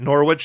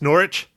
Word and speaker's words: Norwich: liked all that stuff did they always correct people that it wasn't Norwich it's Norwich yeah I think so that's why I said it Riley that's why I said it wrong as well it's so funny how the hell do you have a silent w I don't know well